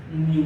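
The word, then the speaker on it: mu: इसको बोलते क्या है, इसको प्रोनाउंस करते हैं क्या, इसको प्रोनाउंस करते हैं म्यू, प्रोनाउंस करते हैं क्या, प्रोनाउंस करते हैं इसको म्यू, म्याऊ म्याऊ नहीं, म्यू प्रोनाउंस करते हैं।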